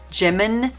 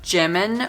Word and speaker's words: Jimin: go back and forth between Jimin and Jimin, because Jimin is actually more the proper Korean pronunciation, even though I'm probably still not quite saying it right, than Jimin. Jimin is definitely the Americanized, Romanized, bastardized version of his name.